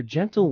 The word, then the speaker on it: gentle: gentle is simple gentle with a soft G and a short e use in a sentence for example her gentle words and caring gestures